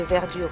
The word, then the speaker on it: verdure: Ainsi, dans l'exemple d'Arthur Rimbaud, c'est un trou de verdure où chante une rivière. Les E de verdure et les E de chante ne seront pas prononcés.